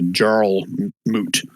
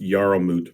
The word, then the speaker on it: Jarlmoot: I think it's pronounced Yarlmoot, by the way. Yeah, you're probably right. That's my stupid English accent.